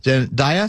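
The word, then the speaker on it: Zendaya: Darlings there's your literation like Katie Perry and zandia am I pronouncing that right yes zandia Z have taken to the Bold in the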